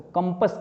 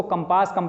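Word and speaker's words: compass: इसको कंपस कहते हैं। लोग इसको कंपास प्रोनाउंस करते हैं, ये गलत है, ये जान लो, इसका प्योर प्रोनाउंसिएशन है कंपस।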